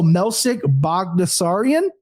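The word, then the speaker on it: Melsik Baghdasaryan: I'm going to go Melsik Bagdasaryan.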